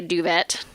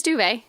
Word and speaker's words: duvet: I don't think matter I bet British people say duvet they like I feel like they intentionally mispronounce French words just to mess with the French yeah I'm sure I have a feeling yeah uh but it is duvet you know inde deference to our French Canadian neighbors although maybe they